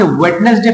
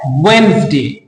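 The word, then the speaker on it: Wednesday: यहां पे देखें वेडनेसडे अगर आप भी इस वेडनेसडे पढ़ते हैं तो आप गलत पढ़ते हैं क्योंकि यहां पे डी साइलेंट है तो ये है वेनसडे ठीक है ये है वेनसडे यहां पे देखें जी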